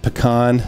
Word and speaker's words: pecan: just for the record it's pronounced pecan not pecan or pecan yeah none of that pecan